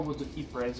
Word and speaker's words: Woods of Ypres: and doom metal band, Woods of Yuppers, or Woods of Ypres if you want to pronounce it that way, but I pronounce it Woods of Yuppers because it looks like yuppers.